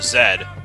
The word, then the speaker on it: Z: who's Canadian uh had brought up the letter Zed and pronounced it as Zed yeah and one of